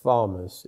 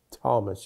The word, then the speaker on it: Thomas: saith unto Thomas and it's not Thomas it's Thomas you don't you don't pronounce the h who were those people